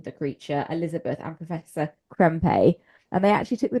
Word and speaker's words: Krempe: Professor Krem, who is ultimately the Krempe.